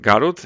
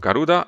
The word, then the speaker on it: Garuda: having said that also garud is pronounced garud instead of garuda as i did in